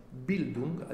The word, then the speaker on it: Bild: educare vuol dire noi si pronunci si dice bill duke bild nella sua radice a